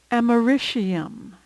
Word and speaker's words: americium: It's often pronounced fluorine, but I believe the preferred pronunciation is fluorine. Americium, americium.